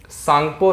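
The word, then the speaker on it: Tsangpo: जाता है ठीक है इंग्लिश में ऐसे लिखा जाता है टी साइलेंट होता है सांगपो ठीक है रिवर य इस तरह से बोला जाता है सांगपो रिवर है ठीक है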